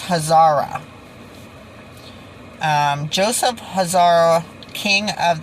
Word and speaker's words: Khazar: called it and now the k i think is silent from what i heard her say so it's hazara um joseph hazara king